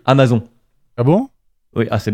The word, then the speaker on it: Amazon: une théorie pour moi, on prononce tous mal cette marque, on devrait à mon avis dire Amazon.